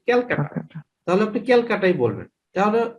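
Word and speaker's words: Calcutta: am from Kolkata so Kolkata না বলে কলকাতার ইংলিশ হচ্ছে আমরা হচ্ছে ক্যালকাটা তাহলে আপনি ক্যালকাটাই বলবেন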